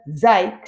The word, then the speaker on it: seid: Ihr seid cool. Now notice how I pronounce that. Even though there's a D at the end, I actually make the T sound.